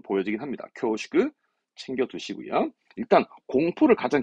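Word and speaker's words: 恐縮: 이건 우리말이 없어서 공축이라는 건데 발음은 쿄슈크합니다. 쿄슈크. 쿄슈크 데스 하면서 뭔가 이 공축이라 하면 우리말로 뭐라 할까?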